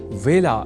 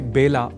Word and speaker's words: वेला: ही चुके हैं कि व का कई बार ब के रूप में उच्चारण करना अशुद्ध होता है। अतः ए अक्षर से जुड़े वेला इस शब्द के उच्चारण में भी विशेष ध्यान रखा जाना चाहिए। अर्थात इसे बेला नहीं बोला जाना चाहिए।